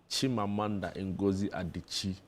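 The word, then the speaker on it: Chimamanda Ngozi Adichie: Chimamanda in Goi Adichi.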